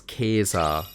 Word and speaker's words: Caesar: Also on Caesar, it was pronounced as Caesar in Vulgar Latin, right? Soft C only became a thing later down the line in the Romance languages.